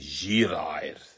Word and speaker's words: Girair: He used to call me Girair, which is the full, the authentic way to say my name, the origin of my name, Girair.